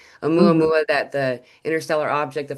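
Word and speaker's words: ʻOumuamua: it's done exactly what Omeua Mua did. I almost said it wrong. a mua mua that the interstellar object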